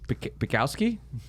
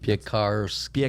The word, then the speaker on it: Piekarski: Pikowski? No, that's not it. Piekarski. Piekarski. Yes, sir. Got it. There you Piekarski. go. That's good. Roll your R.